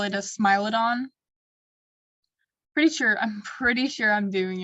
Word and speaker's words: Smilodon: Fun fact about Smilodons, saber-toothed tigers, is that their teeth, scientists have